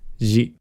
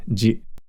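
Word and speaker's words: ぢ: Chi with the dakden is pronounced ji. Note that chi with the dakden is pronounced the same as shi with the dakden, ji.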